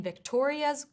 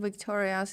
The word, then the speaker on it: Victoria's: than one syllable, like the word Victoria's, where the stress needs to be on the second syllable.